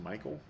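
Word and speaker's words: Mikyl: Michael I got I I guess M I K Y L is pronounced Michael.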